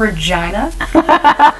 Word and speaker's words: Regina: your hometown well yeah it's a city that rhymes with fun so I feel like I should say it out loud I'm from Regina Saskatchewan Canada I love it I think Canadians